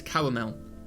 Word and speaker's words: caramel: How do you pronounce caramel? Okay, well, that's how I pronounce it. Just saying caramel. Caramel with 3 syllables, 100%.